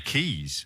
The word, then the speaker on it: Caius: beg your pardon four keys actually college is spelled the same and that would be pronounced keys wouldn't it record you